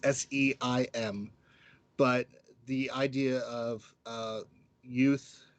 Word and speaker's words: Syme: Um, I think one that I've really enjoyed, I have to say, is Meeple-a-thon, and that's David Syme. I'm pretty sure I said his last name wrong. It's Seim.